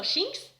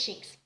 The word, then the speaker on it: Shinx: And you've got the Luxio and the Sphinx that, I think it's called Sphinx or Shinx. I don't know how to pronounce it, but I think it's Shinx. He's had the Shinx, and